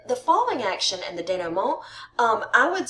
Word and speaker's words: denouement: you can see this, but your denouement. That's how they say it is French.